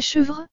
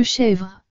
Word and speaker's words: chèvre: la première lettre e c'est que cette lettre e doit se prononcer différemment c'est à dire qu'elle doit être prononcée comme et comme dans le mollet au lieu de le sinon on dirait cheuvreux au lieu de chèvre ce qui nous donne